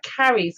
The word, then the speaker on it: Chares: of an initiated artist, Chares of Lindus, or Caries of Lindus, I'll spell it Chares.